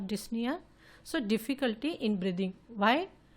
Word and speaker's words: dyspnea: is also called as dyspnea. See, P letter is silent in pronunciation of dyspnea.